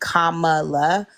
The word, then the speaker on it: Kamala: Kamala um and let's say her name accurately Kamala um that's a thing as black people we